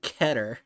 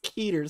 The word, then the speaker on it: Keter: what the stars were it's keter so that two T's it's one t why I mean I mean I've heard it pronounced ketter but it's it's Maine hit by his mainly pronounced as keter is what is creative